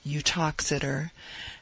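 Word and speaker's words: Uttoxeter: speaks of the town its name is pronounced eutoxider as being about nine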